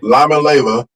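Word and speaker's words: Iamaleava: Lamaleva.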